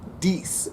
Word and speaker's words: Dece: Dece. Dece is spelled capital D-E-C, but it is pronounced like Reese.